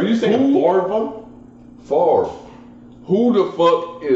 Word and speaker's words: Favre: popper that's the way it's spelled but it's pronounced far for whatever here give it the B is